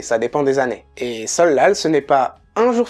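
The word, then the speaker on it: 설날: se prononce comme un humble donc ça se prononce bien solal pour tout ce qui est raide l'exception de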